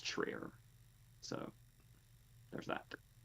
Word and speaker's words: Trier: I think I was calling him Trier last time. I'm pretty sure it's Trier.